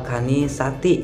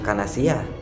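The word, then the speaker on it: الكنيسةِ: Terus wal kanisati, itu bukan kanasiyah, wal kanisati. Wal kanisati itu bukan kanasiyah ya.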